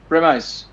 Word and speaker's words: premise: Premise. আচ্ছা, ইটস a very interesting I প্রেমাইস। guess both of them work. It depends on which side of the Atlantic you're talking from.